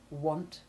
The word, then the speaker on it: want: Our last short A sound, short A5, is where A has a short O sound, as in want.